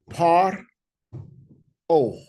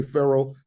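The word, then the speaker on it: פרעה: So we have par o par o or someone say pharaoh par o par o par o because they close the syllable.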